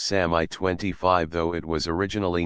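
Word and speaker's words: Samye: was after a while given the name of sanyang or three Styles which in tibetan is pronounced Sami 25 though it was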